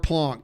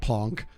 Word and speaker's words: blanche: Okay, you don't get carte blanche, dude. I think I said it wrong. It's blanc, not plonk.